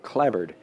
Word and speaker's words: clapboard: Spelled in my part of the world, spelled clapboard, but pronounced, I think, clabbered, as if it's a B, which is one of those silly, Englishisms.